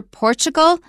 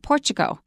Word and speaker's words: Portugal: but watch out for Portugal Chris pronounce the L but when I learned it as a kid it was just an o sound Portugal interesting Portugal have you